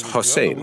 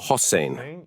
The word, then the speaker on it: Hossein: They said your name is Hussein, right? I said I started teaching them how to pronounce my name properly. They would say Hussein. I corrected them. No, with an O. That's Hussein. Eventually, they started coming up